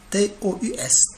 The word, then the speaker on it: tous: T-O-U-S, tout. Tous, il se lit tous dans cette phrase.